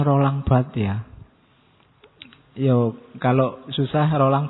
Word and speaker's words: Barthes: Dulu ada kipernya MU yang legendaris, Fabien Barthez, kalian bacanya kan. Harusnya enggak, tesnya jangan sampai bunyi.